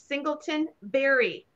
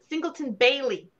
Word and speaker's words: Singleton Bailey: um it's the iris vase Singleton Berry I keep saying it wrong Singleton Bailey yes look at this it